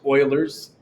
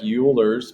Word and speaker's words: Euler: a look at that funny spelling that is pronounced euler's i know it looks like euler's but that's okay and these notes on how